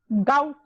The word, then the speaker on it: gout: गोट में, गोट ma'am GOUT, गोट जो होता है, गाउट, गाउट, हाँ गाउट, मेरी GOUT, प्रोनाउंसिएशन, हाँ